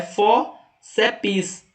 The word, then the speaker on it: fórceps: Maico, mas não é 3 sílabas aqui? Não, ó, só é fórceps. Não se separa o P do S na divisão silábica.